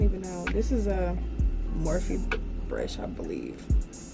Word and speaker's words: Morphe: know, this is a Morphe brush, I believe. Or is it Morphe or Morphe? Morphe. I said it right the first time.